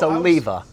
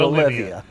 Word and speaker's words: Oliva: either right no okay it's a leva not olivia yeah a lot of